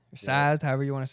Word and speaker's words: Sazed: Third book was seized or sazed.